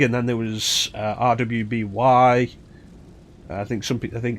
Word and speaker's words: RWBY: then there was uh rwby i think something i think it's called i think it's actually supposed to be pronounced ruby but i don't know because i don't watch it uh and like roost